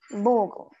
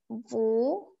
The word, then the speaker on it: Vogel: Vogel. You pronounce it as Vogel.